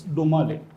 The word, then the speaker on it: Dhomale: So it's Domale. Dhomale. Domale, yes, sir. Dhomale is normally spelled Dhumale, isn't it? So it's not pronounced DHO, Dho, it's DO, Domale.